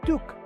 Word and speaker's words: toque: conversation next we have the term talk pronounced Tuk this is the Canadian